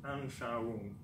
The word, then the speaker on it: Anschauung: Now, this word here is a bit hard to pronounce. It's actually Anschauung.